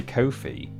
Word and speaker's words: Ko-fi: Well, if anyone really wants to, if anyone's desperate to donate, you can head to my Ko-fi, which is ko-fi, and it is pronounced like that apparently.